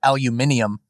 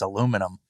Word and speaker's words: aluminum: We don't tell you to stop pronouncing it aluminium, even though it's aluminum.